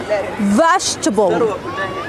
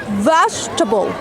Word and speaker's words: vegetable: second one will be vegetable vegetable don't pronounce e that comes after G don't say vegetable no it's vegetable vegetable number three amount don't